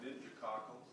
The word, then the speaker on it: meningococcal: It's pronounced meningococcal, and it's not a virus.